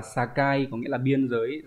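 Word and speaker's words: 境: Nó đọc là sakai, có nghĩa là biên giới, ranh giới.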